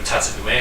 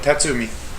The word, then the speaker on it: Tatsumi: Well, Twilight, choice character Tatsume, if I'm pronouncing that right. Yep, Tatsumi.